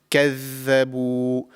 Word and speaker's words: كَذَّبُوا: So the correct pronunciation is كَذَّبُوا. The tip of the tongue slightly comes out of the mouth, just like the tha, but there is more vibration in this pronunciation.